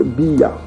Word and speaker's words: Abia: Donc vous avez ici Abia. Donc vous voyez ici, il y a le Aleph là qui n'est pas prononcé chez les Bantous. Si vous enlevez le Aleph de A là, il vous reste Biya.